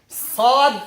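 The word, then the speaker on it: ص: Sad, exactly like seen. The only difference is you just raise the back part of the tongue to make it heavy.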